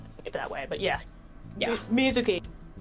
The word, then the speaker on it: Mizuki: Mizuki, I now know is the correct pronunciation.